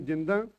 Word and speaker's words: Jind: to call her because somebody the pronounces her name is jinda and but I was told by sukdev sahaji that that is a bit derogatory to her honor so it's better to call her Maharani jind cow and I have